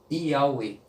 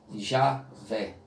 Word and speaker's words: Yahweh: Que a fonética seria Yahweh. Então, o nome mais aproximado do original, do Criador, seria essa pronúncia aqui. Seria essa pronúncia aqui. Que no português, normalmente, se dá o nome de Javé. Javé. Mas nesse caso aqui específico, a transliteração correta, mais original, seria esta daqui, Yahweh.